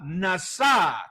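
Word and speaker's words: נשא: el texto hebreo leemos la palabra NASA con acento en la NASA y el diccionario strong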